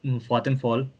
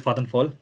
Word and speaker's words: Vattenfall: Like if you are choosing wind, there are companies like Vattenfall, which you pronounce Vattenfall, but it's Vattenfall, I suppose, but it's pronounced here as Vattenfall.